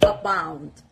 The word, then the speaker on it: abound: Let's continue with the word abound. Abound. The stress is on the second part, on the B, abound.